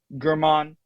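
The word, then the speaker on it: Germán: German, the guy who got me a lot of points in or is it Herman? How do you pronounce it? Herman.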